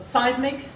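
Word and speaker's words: CEISMC: I'm Associate Director of Seismic, which is the way we pronounce our Center for Education Integrating Math, Science, and Computing.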